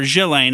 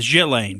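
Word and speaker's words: Ghislaine: I don't think it's I don't think the S is now pronounced I've seen it's either killing or jillaine and I'm going with jillaine but anyway that's her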